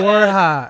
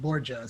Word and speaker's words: Borja: So, But, the white guy part of you pronounced it Borgia, so you're okay. Borja. Yeah, But it's Borja. Okay, it's I got Borja, it.